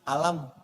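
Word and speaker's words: ألم: Cuman sayang, bacanya bukan alif, lam, mim. Alam. Maksud saya, alam nashrah laka sadarak.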